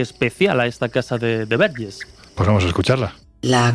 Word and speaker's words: Verges: El pueblo no es Vergés, sino Verges, que es vírgenes en